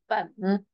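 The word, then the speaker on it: 粉: So this is will be called fen. Yes. So maybe you can like read after me. Fen. Yeah. Fen. Fun. Fen. Yeah, fun. That is rice noodle. It's similar pronounced like fong, right?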